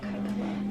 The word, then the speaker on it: Kybella: Tell me about Kybella.